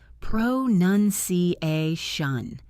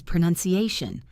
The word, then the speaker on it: pronunciation: The verb is pronounce, and the noun is pronunciation, not pronunciation. The middle vowel goes from an OUN sound to a nun sound.